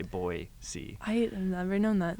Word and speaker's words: Boise: yeah used to be it's not Boise yeah Boise they have like shirts uh I like a lot of the shops down there that say boy see I have never known